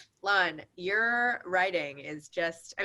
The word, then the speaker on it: Lan: are amazing writers but do i pronounce it lan or lon lon your writing is just